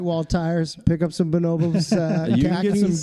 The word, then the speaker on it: Bonobos: It's Bonobos.